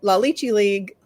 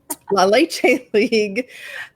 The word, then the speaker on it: La Leche League: had gone to a la lychee league lychee now I'm saying it wrong La Leche League meeting just to try